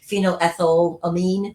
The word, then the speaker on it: phenylethylamine: noir after the north epinephrine epinephrine and this phenylethylamine i'm always so terrible at pronouncing these words i'm just going to call it pea as they move forward but it's phenoethyl amine for those of you who are science-y people